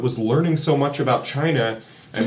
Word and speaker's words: Qin: first emperor of the King Dynasty was kin chin sorry it's spelled Qin so I keep doing that but it's the Chin Dynasty uh was the first